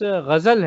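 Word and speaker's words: ग़ज़ल: वैसे लिखा रहता है, लेकिन अगर जो प्रोनाउंस कर पाता है गज़ल, वो गज़ल कह के लिखता है, और उसकी नौयत में जाना पड़ेगा।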